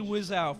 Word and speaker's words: Wiseau: I want everyone to compare this to the best and or worst Tommy Wiseau film, The Room.